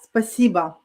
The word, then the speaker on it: спасибо: Yeah, спасибо. Okay. Second syllable stress.